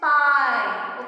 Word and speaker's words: pie: Pie. Okay, so here E is silent and I is the speaking vowel.